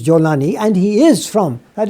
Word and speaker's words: Jolani: In Arabic, the Egyptians pronounce the Jim as Gim. Yes. So Golan is actually Jolan. So the Jolan Heights, and he's Jolani, and he is from,